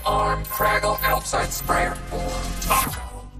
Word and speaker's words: TAKOS: I call it the Tentacle Arm Craggle Outside Sprayer, or Taco. The S is silent.